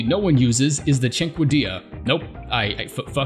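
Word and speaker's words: Cinquedea: a weapon absolutely no one uses is the Cinque Dia nope I you that's how it's pronounced I actually looked it up this time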